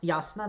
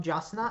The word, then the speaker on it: Jasna: whose name is pronounced yasuna not jasna i've been told um which is actually quite interesting because that is how you would that is the name in my language serbian yasna like there there are